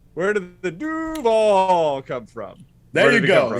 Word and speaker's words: Duuuuvvvvaaaal: Everyone, it's 2 syllables, couple D's, a hell of a lot of U's, and then dash VAAAL, but lots of V's and stuff like that.